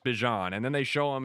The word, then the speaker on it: Bijan: And Bejian's awesome, by the way. Bean, he's got to pick a name. I'm sorry. like he comes out and he says it's pronounced Bjon and then they show him in the the